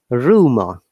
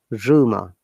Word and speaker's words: rumor: Rumor, R, Rumor. but last R is pronounced as, I mean, silent because of the short sound. Rumor.